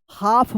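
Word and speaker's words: half: हाफ पढ़ेंगे। हाफ। क्या पढ़ेंगे? हाफ। यहां पे भी क्या है? एल साइलेंट है।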